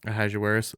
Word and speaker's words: Ahasuerus: Ahasuerus.